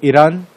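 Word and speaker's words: Eyre: हाँ, ये लेक ए, आपको पता है इसका प्रोनाउंसिएशन क्या है, लेक आयर नहीं है ना, ईर है, लेक ए।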